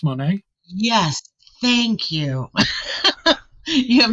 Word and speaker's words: Monet: with me today Monet have I pronounced your last name properly like the artist Monae yes thank you you